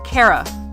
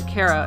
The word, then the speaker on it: Chara: Uh, Cara, like character. That's not That's how I I pronounce Cara's name.